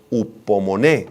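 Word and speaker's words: ὑπομονή: es muy importante es la palabra griega homon con acento en la e y H al principio homon significa paciencia espera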